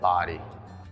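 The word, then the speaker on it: Bodie: this lighthouse' name but here in the Outer Banks we do pronounce it body as you climb the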